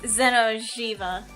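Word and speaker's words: Xeno'jiiva: I'm sorry my pronunciation shite. Okay, it is Zeno Shiva.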